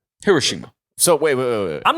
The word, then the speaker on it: Hiroshima: could blow up uh Hiroshima or I pronounced that wrong actually uh Hiroshima so wait I'm not